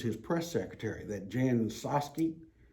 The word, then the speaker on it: Psaki: press secretary, that Jan Psaki. Psaki. No, I think the P is silent.